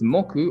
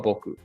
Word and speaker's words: 木: Kunyomi is ki, tree. Onyomi is moku or boku.